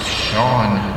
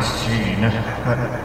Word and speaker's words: Sean: It's pronounced Sean, not Sheen.